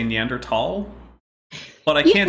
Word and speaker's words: Neanderthal: I go with Neanderthal because I've seen multiple etymologies proposed.